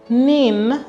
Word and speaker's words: NIN: days turn around time the national identification number pronounced nin is what identifies an